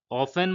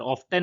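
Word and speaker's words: often: था ही मतलब वो ऑफेन मतलब अक्सर ऑफेन नहीं होगा दोस्तों। ऑफन होगा। ठीक है? टी इसमें साइलेंट होगा।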